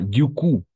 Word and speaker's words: du coup: Ah, du coup, pas du coup, du coup, du coup.